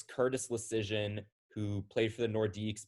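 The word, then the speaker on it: Leschyshyn: him oh that is no oh curtis curtis leishishin leicestershin curtis washington valley and effort uh this is another throwback it's curtis lucian who played for the nordiques back in the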